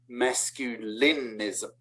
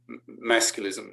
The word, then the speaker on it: masculism: By the way, not masculinism, for the same reason that it's not femininism, right? It's just feminism, feminist. So masculism, masculist, 3 syllables, masculist.